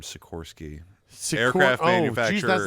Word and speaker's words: Sikorsky: Igor Silorsky. He's a Russian-American aviation pioneer from 1889 to 1972. Silorsky Aircraft. Sikorsky. You just said it. Sikorsky. There's no L in the name Sikorsky.